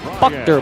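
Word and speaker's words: Buchter: goes to Brian bucker believe that if you need if we need pronunciations jump into that iation Channel if we're getting if we're if we're getting that wrong but believe it's Brian Buck dur and either way they'll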